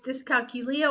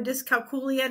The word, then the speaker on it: dyscalculia: It's dyscalculia or dyscalculia, depending on how you pronounce it.